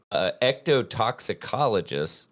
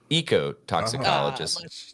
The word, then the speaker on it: ecotoxicologist: So Kara Love, an evolutionary biologist and ectotoxicologist. No, not ecto. Sorry. Ecotoxicologist.